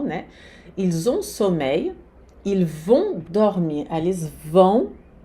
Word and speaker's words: vont: Ils ont sommeil, ils vont dormir. Eles vão. Esse vão aqui também, o T não se pronuncia nem no on, nem no vão.